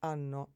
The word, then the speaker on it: hanno: O, hai, ha, abbiamo, avete, hanno. Remember that the H, when it begins a word, is not pronounced.